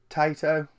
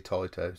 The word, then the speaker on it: Taito: I think everyone called it Taito, but it's actually Taito, so whatever.